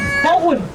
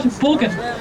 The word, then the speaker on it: Borgen: And it's actually pronounced with a soft G. We don't like hard consonants in Denmark, so it's pronounced Borgen, not Borgen.